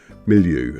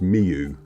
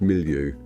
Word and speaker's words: Miliou: of the place we're going through is uh milu and that's how you pronounce it cuz I just phoned up uh